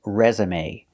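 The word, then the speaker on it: résumé: for a reason so resume is special because we pronounce the e at the end with the long a sound like day or pay resume so pronunciation your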